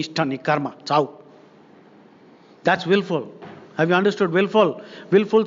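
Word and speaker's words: wilful: Wilfing means willful surfing. Now, willful, W-I-L-L-F-U-L. This word can also be pronounced W-I-L-F-U-L.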